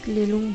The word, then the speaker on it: Lalung: After visiting Thankar Monastery, we went to Lalung village, and Lalung is mostly pronounced as Lelung by the local people over here.